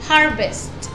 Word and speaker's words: harvest: Aquí también la T tiene que sonar. Harvest, cosecha.